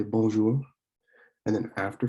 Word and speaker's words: bonjour: most common um, introductions, excuse me, would be bonjour. So it's not bonjour. It may look like you want to pronounce it bonjour, but it is bonjour, which means hello, good morning, and even good afternoon.